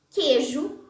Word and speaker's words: queijo: O ditongo E, quando aparece antes das letras X, R e J, pode ser pronunciado como E. Deixei, queijo, mineiro.